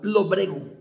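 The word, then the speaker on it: lóbrego: Lobrego, con acento en la O. Lobrego.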